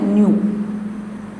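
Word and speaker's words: ν: या एक ये सिंबल है जिसको पढ़ते हैं न्यू, न्यू उच्चारण करेंगे आप न्यू से, इसको न्यू पढ़ा जाता है या छोटी एफ भी कह सकते हैं।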